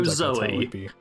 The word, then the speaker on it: Xoe: the user named is i don't know if you'd pronounce it zoe it's xoe i'm never sure how you pronounce x's at the start of names that sounds like zoey okay let's go zoey yeah uh they got